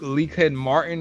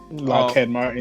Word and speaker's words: Lockheed Martin: military stock is what leak leak head martin or whatever however you pronounce that lockheed martin lockheed martin sorry i pronounced it right yeah locker and martin